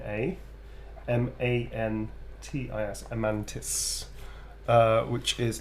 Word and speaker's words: amantis: so a e t p e r n a m a n t i s amantis uh which is L us forever until